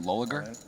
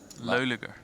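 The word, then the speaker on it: Loeliger: You call it Loliger? Loliger. Loliger.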